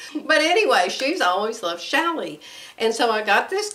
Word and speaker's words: challis: she's always talking about shally i've never bought shall i number one i never knew how to pronounce it it's c-h-a-l-l-i-s and and i used to think well what is that chalice when what kind of fabric